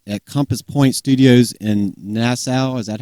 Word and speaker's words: Nassau: This album is the 7th studio album recorded at Compass Point Studios in Nassau. Is that how you pronounce it?